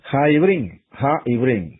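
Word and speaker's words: הָעִבְרִים: La palabra los hebreos, que en la pronunciación hebrea suena así, Ha-Ibrim, o sea, los hebreos.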